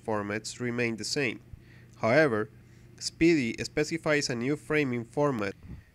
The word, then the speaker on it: SPDY: caught my attention is lpdy pronounced speedy and is currently in